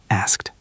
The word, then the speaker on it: asked: Asked. He asked a question. Asked. It can feel difficult to put the K and the T together.